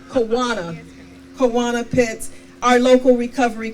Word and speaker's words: Kawana: and to of course our fabulous MC Miss kajana Pitts I know I mispronounced your name kaana kanana pits our local recovery coordinator they are